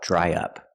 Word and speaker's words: dry up: Now, let's talk about dry up. Pronunciation. Dry up. To link the vowel I dry to the short uh in up, we need a sound in the middle y.